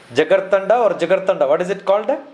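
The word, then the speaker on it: Jigarthanda: from the place where jigar tanda is it the way it used to be pronounced jagar tanda yeah you see the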